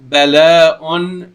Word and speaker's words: بلاء: But the way it's spelled in here with a waw right here, with a waw and a hamza on the waw, bala'un, and it is written in a weird way,